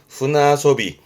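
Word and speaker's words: 舟遊び: 발음은 후나소비. 이때는 후나로 바뀌어서 언급을 합니다. 후나소비.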